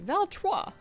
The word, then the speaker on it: Valtrois: Valtrois. The S is silent.